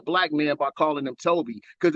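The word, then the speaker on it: Tobi: Don't ever think you insulting a black man by calling him Toby, because it's a Nigerian name, goofy. Toby. Toby. Get it, say it, learn it, love it. Toby. Not T-O-B-Y, T-O-B-I. T-O-B-I. Happy?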